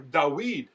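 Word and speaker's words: דוד: But it also happens in names, such as King David, or Dawid as we say in Hebrew.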